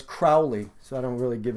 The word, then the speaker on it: Crowley: right about that people like it when you pronounce his name right so it's Crowley so I don't really give a [ __